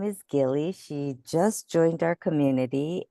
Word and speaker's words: Gilly: And am I pronouncing your name correctly? I just Thank you. realized. Thank you. It's Gilly, actually. Gilly.